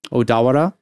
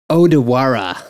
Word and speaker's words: Odawara: gone out to um odawara okay yeah yeah yeah which is still kind of near how sorry dude dude you're not saying it right it's odawara odawara odawara well that's